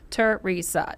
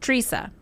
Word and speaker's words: Teresa: because I was like, it's 3 syllables, bro. Teresa. Stop Teresa. Wait, what did he say? Teresa. And I was like, he's got that Midwestern. Teresa. It's Teresa. Yeah.